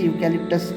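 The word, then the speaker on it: eucalyptus: Okay, सो यहाँ पर हालांकि ये वॉवेल से वर्ड्स शुरू हो रहे हैं, okay, this words begins with vowel, but इसका जो स्टार्टिंग का जब प्रोनाउंसिएशन करते हैं तो वो य की तरह हो जाता है।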